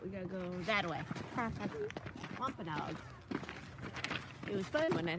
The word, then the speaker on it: Wampanoag: I was like, oh my god, Wampanoag. It's not that complicated, people. W-A-M-P. Wom. A-N-O-G. Oh, gee. Wampanoag.